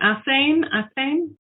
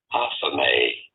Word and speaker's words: athame: An athame? I got a video. It'll tell us. A ceremonial blade, generally with a black handle. How do you go about pronouncing it? Athame.